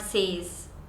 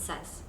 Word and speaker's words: says: Pakistani or Indians so it's like says it's not says I don't think I have heard anyone call it says in school everyone call it says it's not says it says okay so that's all for